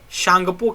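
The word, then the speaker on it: Tsangpo: इसको यार लंग या shangpo के नाम से जानते हैं टी यहां पे साइलेंट हो जाता है shangpur के नाम से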